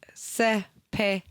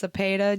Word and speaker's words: Sapeda: Sapeda is pronounced Sepa and is a stand-up comedian, Army veteran, and single dad based in Tulsa, Oklahoma. Sapeda's debut special, it's pronounced Sepa, just released.